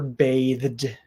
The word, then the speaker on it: bathed: would say bathes um same thing for bathed bathed you're going from the the voiced th sound into the D sound bathed bathed but there's no e sound in there good question Kevin Hawthorne